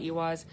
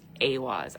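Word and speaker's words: Ehwaz: Remember I told you I was like, "Oh, we're going to talk about Ewas." The fertility rune. Yeah. I'm so sorry. Um, pronunciation is aw, but it's spelled E I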